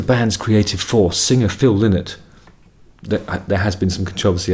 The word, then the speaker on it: Lynott: creative force, singer Phil Lynott, there has been some controversy as to how to pronounce his name. I'm going with Lynott because it's L-Y-N, like Lynn, you know, like King's Lynn, or Lynn, Alan Partridge's